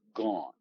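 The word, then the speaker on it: גן: In Hebrew, that's gone. You would spell that in English, G-A-N, gone. Okay. A has an ah sound in Hebrew.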